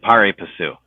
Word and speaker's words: pari passu: discussion about liquidation preferences and pro-rata rights and pari passu. Is that how you say it, Louis? Well, I say it pari passu.